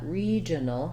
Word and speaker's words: regional: re is stressed and it has the clear vowel e so we see that with a little lowercase i in the ipa i've rewritten it here with the letters e because we often spell that e vowel with two e's like in c or need thinking about that regional regional um that's kind of our